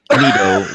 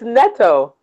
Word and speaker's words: Nitto: And yeah, because I think it's Nito, because I think what they said was don't pronounce it like there's an H.